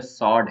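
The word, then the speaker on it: sword: उसको सटल बोलते हैं अब तलवार जो होती है उसको स्वर्ड ऐसे लिखा गया है पर बोलेंग इसको प्रोनंसिएशन रियल में सड है सड डब्लू साइलेंट है वैसे ही थम जो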